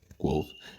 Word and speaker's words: Kvothe: Mi nombre se escribe Kvothee, que se pronuncia Quoth.